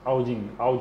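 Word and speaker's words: Haugen: Elle s'appelle France Haoudjin quoi. Son nom est difficile à prononcer, c'est France avec S à la fin. Et Haoudjin, H-A-U-G-E-N.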